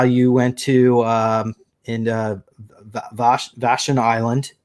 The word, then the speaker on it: Vashon: So in this particular video, we discussed about how you went to in Vashon Island. Did I pronounce it Vashon right? Island, yeah.